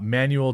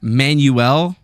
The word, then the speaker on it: Manuel: I don't know why every white guy says my name like that. Manuel. Manuel. Because they don't want to be think it's Manuel. They're just like, "But you say it like a white guy."